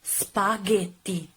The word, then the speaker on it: spaghetti: vowels E and I if you want the occlusive sound girl you need to add an H in the middle between the G and the vowel in this way you will obtain gay and gay this is the case of the following word spaghetti the correct pronunciation is spaghetti spaghetti and remember to use the tt-this spaghetti not spaghetti there's